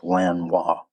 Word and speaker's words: Lanois: That's L A N O I S. I'm guessing French. It's pronounced Lan Wis.